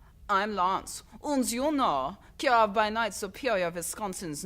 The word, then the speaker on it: Kirov: Kirov? Yeah, Kirov.